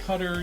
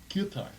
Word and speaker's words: Qatar: you hear it pronounced katar by the by the Brits um the actual proper pronunciation of katar is guitar guar it's like a like like a guar like think about like like a guitar but it'sit okay yeah